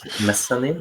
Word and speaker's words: Mezzanine: The album that I listened, I don't know how to pronounce that either, but that's like Mezzanine. Is that how you pronounce it?